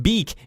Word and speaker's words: Bic: This company claims the shortness was a more memorable version of Bic's name, which is pronounced Beek in French.